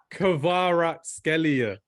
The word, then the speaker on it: Kvaratskhelia: Kvicha Kvaratskhelia. That's why I literally said that. Kvicha Kvaratskhelia. Oh my God, what is this? You're butchering this. Kvaratskhelia.